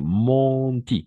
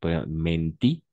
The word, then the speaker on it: mentir: Monti, monti. Es igual, falsa pronunciación. Obviamente para nosotros mentí, mentí, ¿no? Pero todas las veces que vamos a encontrar EN, EM, ON, OM, vamos a pronunciar on, d'accord?